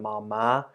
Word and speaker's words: ม้า: ma and then the mark word ma high tone ma ma ma ma